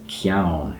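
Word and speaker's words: ceann: the beginning, but then in Gaelic it's ciaun, has a k sound at the beginning, so you kind of P and Q.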